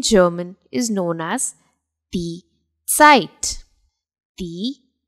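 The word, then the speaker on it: Zeit: exactly sound s it it basically begins with the pronunciation of TS site the site the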